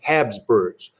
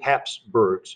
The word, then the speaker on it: Habsburg: world war one is the habsburgs or the hapsburgs uh depending on how you wanna pronounce it the uh the uh things down here the closed caption down here almost had a right you can you can spell it h-a-b-s or h-a-p either one is fine so they began